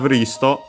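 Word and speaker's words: リスト: Then we have risto, list. As usual, we have the additional u for the su, but o for the to, because otherwise it would change the pronunciation of the t with the i in chi, with the usual u in tsu. So yeah, we had o instead because of that.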